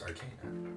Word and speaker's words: Arcana: see what yeah sure it's pronounced Arcana thank you just like the church thank you um but